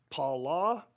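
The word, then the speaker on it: פלא: The Hebrew word is pronounced pala and can be referenced by Strong's number 6381.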